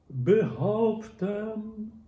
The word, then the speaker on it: behaupten: Mein Vater, or behaupten. Vater, the last syllable has E. Behaupten, the first and the last have E. In German, they are a bit open.